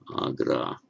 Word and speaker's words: Agra: In modern Hindi, for example, Agra, the city of Agra. Sorry, long A. Agra. Mra.